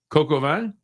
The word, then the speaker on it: coq au vin: Okay, and then we have National Coq au vin.